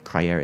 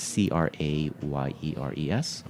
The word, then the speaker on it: Les Crayères: champagne, has to be Les Crayères, which is Spell it, please. Crayères is Crayères.